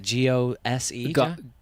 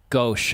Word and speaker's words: Gose: Gose. Gauche, I believe. It's Gauche.